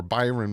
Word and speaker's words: Byron: First, Brian Mattos uh or Byron Mattos, sorry, butchered the name, was injured at the end of camp and was uh evacuated.